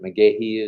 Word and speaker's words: McGahee: McGahee is the way it's pronounced. McGahee.